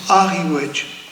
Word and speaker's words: Riouech: Alors c'est pareil pour Ariouech. Ariouech, alors c'est où il y a le Christ après au début de la route de la route du Plan, où se trouve le Christ. Il y a le ruisseau de Riouech et on prononce Ariouech.